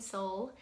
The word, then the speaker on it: Sol: And yet I will tell you that spirit, Joaquin, his name's Joaquin, my second child, Joaquin Sol, our little sunshine, it's spelled S-O-L like sun in Spanish.